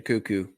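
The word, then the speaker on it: Koekkoek: your boy slater cuckoo slater cuckoo silent k there's a couple of k's in there that are silent yeah uh corey kidd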